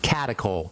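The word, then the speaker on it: catechol: Ask your doctor if they know about those and I'll spell that for you. Catacol. Catakol.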